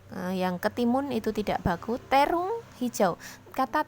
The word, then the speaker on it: terung: Terung, hijau, kata terung itu juga sudah baku. Bacanya memang sering terong, tapi kebakuan katanya di KBBI adalah terung.